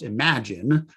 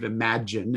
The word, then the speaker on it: Imagen: Now, I think it's pronounced Imagen, but it's like image with an N on the end of it. But I believe Imagen is how we would pronounce this tool.